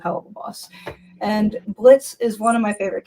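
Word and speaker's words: Blitzø: It's the Blitz without the O. Yes, the O is silent.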